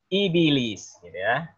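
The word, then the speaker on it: إبليس: bis gitu ya Hai Jadi bukan iblis tapi ibilis ini pastinya cara baca sesuai kaidah ilmu tajwid ya karena sebelumnya harakat kasrah sudah nyarap kasrah maka di bak matinya kita ikuti cara penyebutan dari sebelum dan sesudahnya aba wastakbaro kapal wakana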